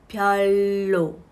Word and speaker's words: 별로: ค่อย ใน ภาษา ผลิต ออก เสียง แบบ นี้ นะ คะ พลอย โล่ ทอน โล่ ตำแหน่ง ของ